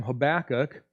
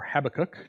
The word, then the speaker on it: Habakkuk: could even because and here's this comes from habakkuk or habakkuk depending on how you want to pronounce it chapter 2 verse 4 the righteous